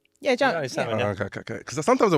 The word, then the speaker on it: Adjani Salmon: Actually, no, Adjani Salmon. Yeah, John. Adjani Salmon, yeah. Okay. Because sometimes I worry about my pronunciation.